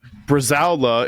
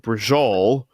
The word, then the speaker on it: Bresaola: But in defense of people from Jersey mispronouncing things, our father, love him, Bresaola is a specific Italian meat that our entire lives, our father called it brajol.